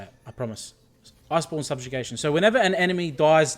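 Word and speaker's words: Iceborn Subjugation: So it's called Iceborne Subjugation. All right, that's how you say it. I promise. Iceborne Subjugation.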